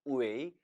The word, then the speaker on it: 为: 이처럼 웨이 이성으로 발음되면 하다, 되다라는 의미를 지닙니다. 반면에 따라 읽어봅니다. 웨이, 웨이. 사성으로 발음될 땐 무엇을 위하여 또는 무엇 때문에로 해석이 된다는 거예요.